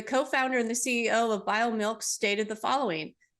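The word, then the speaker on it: BioMilq: It's formulated by a company called BioMilk, and that's spelled B-I-O-M-I-L-Q, so BioMilk.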